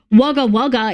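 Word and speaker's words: Wagga Wagga: Anyway, at least Australian names are like said exactly the way they're supposed to be. Waga Waga is spelled Waga Waga.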